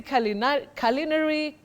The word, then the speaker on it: culinary: That U takes what we call the mid-central sound So you say culinary.